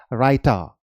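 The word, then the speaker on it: raita: क्या बोलेंगे डाल डाल इसे आप रायता नहीं बोलेंगे यह भी इंडियन ओरिजिन वर्ड है लेकिन इंग्लिश डिक्शनरी में आपको मिल जाएगा so this is राइटा राइटा okay it's नॉट रायता चटनी यह से भी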